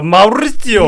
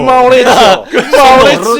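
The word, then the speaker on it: Maurizio: 맡았는데 이제 요 분은 마우리치오 구찌가 이제 파트리시아 별거 기간 동안 만난 내연녀입니다. 와, 이름들이 왜 다 있다인지 모르겠어요 정말. 악센트 살이니까 마우리치오. 마우리치오. 손도 약간 요렇게 로베르토처럼. 마우리치오.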